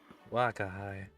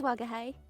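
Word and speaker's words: 吾輩: Wakahai. Am I pronouncing that right? Wakahai? I think it's Wagahai.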